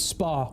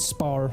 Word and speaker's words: spa: And also it's spa with no R. I might have said spar.